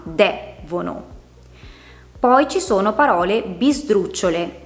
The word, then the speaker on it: devono: Amabile, lodevole, devono. Partendo a contare le sillabe dall'ultima, c'è l'ultima, la penultima e la terzultima. Una parola come devono ha l'accento sulla terzultima, devono.